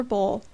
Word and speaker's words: bowl: us a beautiful silver bowl which is always lovingly pronounced to rhyme with ow because that was the